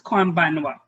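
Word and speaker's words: こんばんは: In writing, konbanha. But we pronounce this konbanwa.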